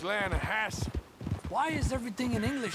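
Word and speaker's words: Lannahechee: some beautiful steelhead trout you mean the Lana no no the lana hatch it runs right near here yeah but it's pronounced Lana Hass why is everything in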